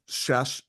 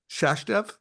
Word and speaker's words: Sachdev: AI Summit and Mike shash I knew I was gonna say your name wrong Mike um sashev did I get it right there yes s it's just like it sounds yeah you got it